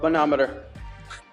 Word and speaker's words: manometer: Manometer.